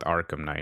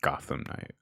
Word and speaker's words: Arkham Knight: coming out next year i just realized i mispronounced the name the title is called arkham knight not gotham night well wasn't there like